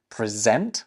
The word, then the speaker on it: present: The third one is present, like to present a prize with the emphasis on the second syllable.